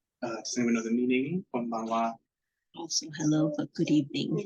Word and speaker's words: konbanwa: Yes, and note that this one does have the 10-10, so it is slightly different of the pronunciation there.